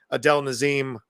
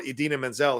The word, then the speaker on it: Idina Menzel: And I think they do have a stage version of Wicked with Kristen Chenoweth and possibly Adele Nazim or Idina Menzel, if you want to say it correctly, they're playing Glenda.